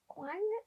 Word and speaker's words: Kuang: It's called The Puppy War by R.F. Kuang, I think is how you say it.